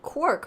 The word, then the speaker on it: quark: squork for peculiar objects, and quark, rhyming with pork, came out at the time.